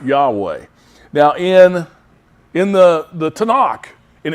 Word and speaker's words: Yahweh: And to the best of our knowledge, at least the people that speak conversational Hebrew that I have listened to, it's pronounced Yahweh.